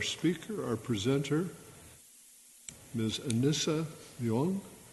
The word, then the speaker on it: Leong: Anissa Leong. How do you pronounce it? What's the proper pronunciation of your last name? Leong.